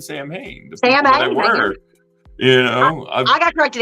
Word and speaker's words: Samhain: I said Sam Hain forever, so don't shoot me. Instead of Samhain.